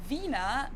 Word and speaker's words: Wiener: In German, we say Wiener. The German W is pronounced like an English V, Wiener.